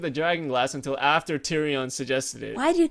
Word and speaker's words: Tyrion: Last week, he didn't even think of the dragon glass until after Tyrion suggested it. Why do you keep pronouncing these names wrong? It's Tyrion.